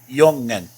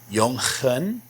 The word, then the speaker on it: jongen: Remember how I said the J is pronounced like a Y sound? So this is pronounced jongen. Jongen. But now you may be saying, wait a second. Didn't you just teach that the G is more like a rough H? Shouldn't this be pronounced jongen? Not in this case. The NG here is just like the NG in English. Jongen.